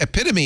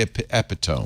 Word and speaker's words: epitome: right so what to answer your question noep epitome is a good one a lot of people say EP epitone oh they do yeah yeah yeah because you've